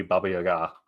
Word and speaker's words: Baba Yaga: uh Baba Yaga uh I guess it should be Baba that's the proper pronunciation learn that recently talking with some Eastern European friends uh but saw meme